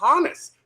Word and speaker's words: Honus: Yeah, but but he says his name is Hannes. There's okay audio of him saying my name is John. There's there's audio that I didn't send you where the the interviewer says, "Where does Honus come from?"